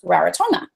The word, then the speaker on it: Rarotonga: I'm in the Cook Islands, just like when you cook food, and I'm on an island called Rarotonga, which is actually pronounced Rarotonga.